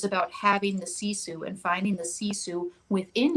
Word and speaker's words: Sisu: And so the word you can't pronounce is actually Sisu. It's Sisu.